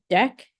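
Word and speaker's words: deque: e um this thing this word is pronounced deck and this is actually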